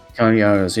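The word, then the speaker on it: Cary Elwes: Paxton is voiced by, how do you pronounce it? Carrie Yules? Carrie Elwes? Carrie Yules, yeah.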